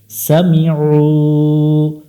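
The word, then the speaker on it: سَمِعُوا: দিব এক লেখা দেখে সামিউ সামিউ এখানে অনেকজনে আইনটা ভুল উচ্চারণ করে উমজার মত উচ্চারণ করে গলা চেপে উচ্চারণ করব সামিউ লাম জবর লা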